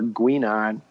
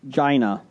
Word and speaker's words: Guinan: From Beside a Geek regarding Star Trek bartender, Quark or Guinan? False, it's Guinan. Well, we wanted Jason to try to read it. Bonus points if Jason pronounces those names correctly. Quark and Gina.